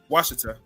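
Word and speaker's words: Ouachita: Their name pronounced as Washita by English speakers.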